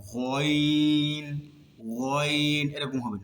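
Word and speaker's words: غين: ঠিক গয়নটা বলার সময় ওই গাইনটাও এখান থেকে উচ্চারিত হবে, তবে এখানে হালকা ঘর্ষণ খাবে। যেমন গয়ন, মুখ কিন্তু গুলো হবে না, গয়ন, গয়ন, এরকম হবে না।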